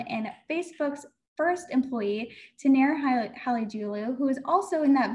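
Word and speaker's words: Halıcıoğlu: So the C becomes a G, and the G does not exist. So everybody with me, Halicioglu.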